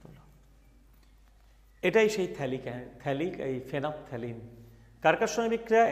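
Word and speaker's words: phenolphthalein: আর পি দুটো আছে, কিন্তু বলার সময় ফেনাপথ্যালিন, ল উচ্চারণটাকে সাইলেন্ট করে দিও, ফেনাপথ্যালিন বলতে পারো।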